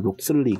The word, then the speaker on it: Locksley: 마켓과는 상관없는 게임이 되겠습니다 로슬레이어 로빈이라는 한국어 발음으로 하자면 록슬리 되겠습니다 록슬리 로빈이라는 게임이 되겠죠